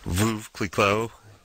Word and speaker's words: Veuve Clicquot: GM hospitality tent on my second glass of Veuve Clicquot. Did I pronounce that right?